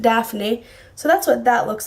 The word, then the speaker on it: Daphne: It says Diaphne, but I pronounce it Daphne.